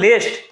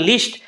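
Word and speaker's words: least: ওকে আচ্ছা এবার দেখো লিস্ট লিস্ট কথাটা যদি থাকে এটা আসলে লিস্ট এটার উচ্চারণটা হচ্ছে লিস্ট অনেকে লেস্ট বলে তো লিস্ট যদি থাকে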